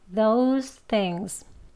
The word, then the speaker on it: those things: those 하고 things 이렇게 나누어서 발음하시려고 하지 마시고요. 그렇게 발음을 하시면 those things 이렇게 호흡이 끊깁니다. 호흡이 끊기게 하지 마시고요. those things 이렇게 한숨으로 이어서 발음하시는 그 요령도 알려드릴게요.